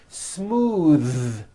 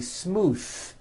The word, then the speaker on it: smooth: Smooth. Believe it or not, the TH sound in smooth is voiced. Most foreign speakers say this word incorrectly. They say smooth with an unvoiced TH, but it's voiced.